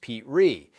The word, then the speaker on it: Petrie: He starred in the pilot himself, playing Rob Petrie, pronounced Pete Ree, and filmed it as a single-camera show in New York with no live audience.